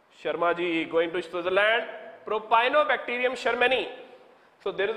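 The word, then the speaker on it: Propionibacterium shermanii: Propionibacterium sharmani. Just remember, Sharma you have heard about.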